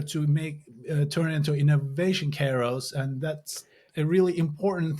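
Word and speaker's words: kairos: say it normally it's it's a Greek wordan this is a Greek word so you say Kos Kos I'm I'm very impressed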